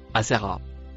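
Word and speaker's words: آثر: Peut-être la lettre noire c'est la conjonction et le mot rouge se prononce asser.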